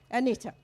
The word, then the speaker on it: Anita: How do you actually in Australia pronounce Anita? Anita, okay, good.